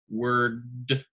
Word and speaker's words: words: And then the last one, you're combining three different sounds, words, and that S sounds like how we would normally say Z in English. Okay, words. So that z sound at the end for words.